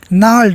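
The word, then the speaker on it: gnarled: नाल, जी साइलेंट रहेगा, means rough and twisted, मुड़ना.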